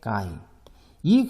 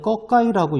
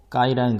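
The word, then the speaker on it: ก ไก่: 어, 장모음입니다. 길게 발음하는 어를 넣어서요.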